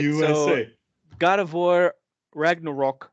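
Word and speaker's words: Ragnarök: So God of War Ragnarok. You have to say it like that because there's a little umlaut over the O or whatever.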